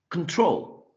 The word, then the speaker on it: control: Control, control, first syllable. Remember that this sound is the schwa sound. It's a very soft sound, right? Like control, control, right?